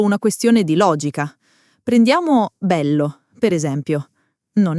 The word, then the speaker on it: bello: Bello ha quella L doppia che vibra un attimo. Non bello, ma bello.